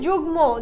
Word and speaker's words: যুগ্ম: বহাল থাকে যেমন হচ্ছে যুগ্ম যুগ্ম আমরা কিন্তু এখানে বলি না যুগ্য আমরা বলি যুগ্ম ঠিক আছে যুগ মকে এখন দেখ আচ্ছা এখানে দেখো হচ্ছে উদাহরণ কিছু দেওয়া আছে।